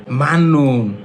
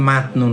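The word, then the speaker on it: 맞는: আফুন অসুস্থ খসে স্থানে মাননুন অর্থ উপযুক্ত এইযে জিউতের পরে যদি নিউন থাকে জিউতের পরে যদি নিউন থাকে তখন জিউতের উচ্চারণ হয় ন এর মত তাহলে এটা হবে মাননুন এটা মাতনুন না এটা হবে মান্নুন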